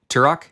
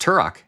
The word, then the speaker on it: Turok: my back yeah you you nominated tarot right turok you pronounce it turo it's pronounced turok turok they say in the game no i've been